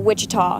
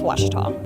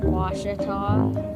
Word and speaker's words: Ouachita: Back in Texas, everybody pronounces it Wichita, but really, it's Washita. Washita. Washita. How would you pronounce it? Washita.